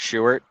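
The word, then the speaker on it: Shuart: Leo has just said it's short short stadium which is at the university there.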